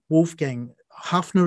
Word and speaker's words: Wolfgang Haffner: And you mentioned Wolfgang Haffner, is it?